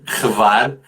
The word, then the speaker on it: Hvar: É difícil pronunciar, mas é assim, Hvar.